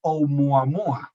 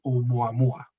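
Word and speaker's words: ʻOumuamua: son objetos interestelares, como ahí lo tenéis, 1I Oumuamua. Efectivamente, Estrella, lo pronunciabas bien. 1 porque es el primero que se detectó, y porque es interestelar, y luego el nombre, Oumuamua, ¿de acuerdo?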